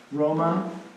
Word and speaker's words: Roma: Is it pronounced any different, is it No. just Roma?